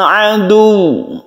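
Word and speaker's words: عَدُوّ: Liba'udin adu. Adu. Seperti itu ya. Kita tekan kepada huruf wawu karena dia itu bertasydid. Jadi ini bukan mad ya, bukan mad. Dia itu hanya bertasydid dan cara membacanya itu ditasydidkan.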